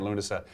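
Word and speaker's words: Lughnasa: is doing dancing at I can miss pronounce it when Lunas thank you cat dancing lunasa is the play that they're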